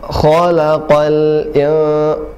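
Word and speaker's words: خلق: Kha, tidak lepas, tidak kha, tidak khalaqa, tapi khalaqal, ya, khalaqal, qa-nya juga tebal.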